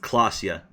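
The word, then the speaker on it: Klaasje: like Ora oh Ora clasia is pronounced clasia cool I'll you how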